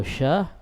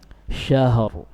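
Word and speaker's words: شَهْر: Iya, kalau syah domba. Iya, harusnya syahr. Tersisa ra pada makhrajnya. Khairum min alfi syahr. Syah, ha sukun, suaranya mengalir, syahr. Ra ditafkhim.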